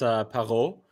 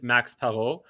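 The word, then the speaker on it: Max Parrot: So Max Perot, indeed, it's Perot, right? Spelled parrot in English, but the French way of pronounce, or the proper way of pronouncing is indeed Max Perot.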